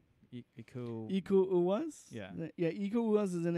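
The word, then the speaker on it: Iko Uwais: So it stars Joe Taslim and Iku Uwaz.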